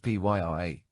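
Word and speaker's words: purée: Tomato puree, pronounced Pyree, is thicker than tomato sauce, but much thinner than tomato paste.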